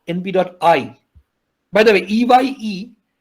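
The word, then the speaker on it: np.eye: So I'm not sure everybody here knows this command in NumPy, but NumPy has a command called np.I. By the way, EYE, that's meant to be pronounced I.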